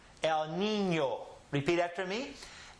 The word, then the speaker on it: El Niño: The N sound, which is ni, and here the Ñ sound with this ñ, ño. Ni, ño. El Niño. Repeat after me. El Niño.